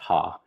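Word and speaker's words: ห้า: 555 is used in Thailand because the number five in Thai language is pronounced ha.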